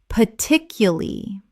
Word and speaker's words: particularly: Particularly. Native speakers often drop the R in the final syllable and reduce the word considerably.